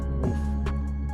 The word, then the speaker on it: woof: W-O-L-F. C'est comme ça qu'on écrit ça, mais on prononce ça woof. W-O-U-F. Il ne faut pas changer les termes, c'est le woof.